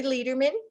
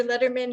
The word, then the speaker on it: Lederman: Lederman. Letterman, it's pronounced Letterman.